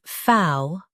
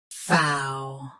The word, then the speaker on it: faux: Say FAUX with a smooth, open ow sound. FAUX.